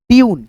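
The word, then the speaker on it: tune: से ब क्यूब जैसे टी यू एन ई ट्यून क्या पढ़ेंगे ट्यून उसके बाद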